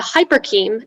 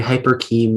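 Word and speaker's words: hyporcheme: patina cultivated two types of lyric poetry the hyperkeem and the did the ram hyperkeem wiper king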